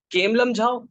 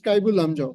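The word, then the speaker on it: Keibul Lamjao: Kemlamjhao National Park. You should go back and check the correct pronunciation of that. Okay, sorry, sir. It's Kaibul. It's Kaibul Lamjao.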